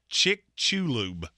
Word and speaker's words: Chicxulub: Chicxulub. It's the asteroid that hit Mexico that they think that caused the extinction of the dinosaurs. Okay. It is not spelled like that. There's an X. There's 2 U's.